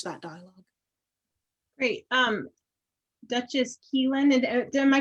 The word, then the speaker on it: Caoilfhoinn: need to change that dialogue great um duchess keelan and am i pronouncing that right you got it excellent all